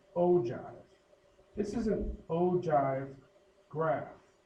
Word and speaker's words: ogive: This next one is pronounced ogive.